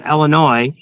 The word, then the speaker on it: Illinois: Illinois is pronounced Illinois. U there's no noise in Illinois.